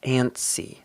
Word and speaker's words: antsy: Notice here that we don't really pronounce the t. It's just antsy.